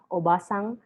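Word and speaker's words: おばさん: see obasan and obasang when it is a short vowel just like this obasan that means and but if you are going to make it into a long vowel you add another character ah obasang you prolong it a little so that the meaning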